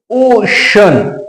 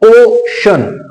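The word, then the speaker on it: ocean: हैं श पढ़ते हैं उस सी को हम श पढ़ते हैं यहां पर देखिए इसको आप पढ़ोगे ओशन ओशन ओशन ओ ये दो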